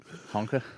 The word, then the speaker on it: honka: Honka? What's Honka. that? What's up, honka? Honka rhymes with Tonka, like the truck.